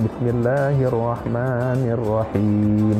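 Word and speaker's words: بسم الله الرحمن الرحيم: Jadi kira-kira bacanya Bismillahirrahmanirrahim, Rahmannya panjang, Rahimnya panjang.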